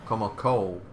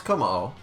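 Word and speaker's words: Kommo-o: Komako. Komako? I thought it was Komao. Or is Komao the... Komao is probably the other... No, it's Komao. Yeah. They were adding extra K's in that. Yeah, so Komao is the dragon type of this gen.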